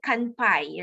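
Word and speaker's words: 乾杯: We have another one, kanpai. What's the meaning of which? It's like cheers. Cheers. Yes, correct. So when you're drinking something, you say kanpai, right? Did I pronounce it correctly, Linda Yani?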